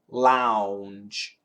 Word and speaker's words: lounge: o u n g Lounge ow ow Lounge Lounge l a u n c h law a a w so Lounge was an o w law is an aw